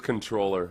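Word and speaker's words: comptroller: yeah yeah big time Big Time the correct pronunciation is controller w why do they spell it like that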